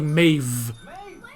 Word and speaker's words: Maeve: Yeah, they say it like Maeve. With a V.